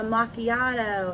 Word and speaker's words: macchiato: And I said, "No, that's not how you say that." I was dying laughing then too. And she goes, "Oh, well, how do you say it?" And I said, "It's a macchiato."